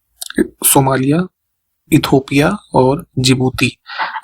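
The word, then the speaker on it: Djibouti: Somalia हो गया, इरिट, Ethiopia और जिबूती जिसका स्पेलिंग डी से शुरू होता है।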